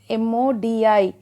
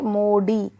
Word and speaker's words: Modi: See, we pronounce depends on like M-O-D-I. Some people say Modi, but it is exactly Modi.